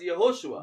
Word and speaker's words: Yehoshua: In English we say Jesus. ஆனா ஹீப்ருல வந்து அது யெகோஷுவா. But in Hebrew we call it as Yehoshua.